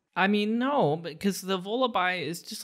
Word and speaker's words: Vullaby: Okay, so this Pokemon is Vullaby. Huh? What? And it's spelled like lullaby with a V as in Victor at the beginning.